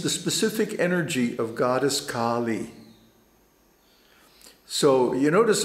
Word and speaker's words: Kālī: specific energy of goddess kali so you notice i pronounce her name kali that's to distinguish it from kali because for example the